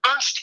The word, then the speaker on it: Ernst: And the reason why they wanted them to pass these audits from Ernst, I said it right this time, Ernst & Young, was because the people were stealing the money and they had to stay within 3%.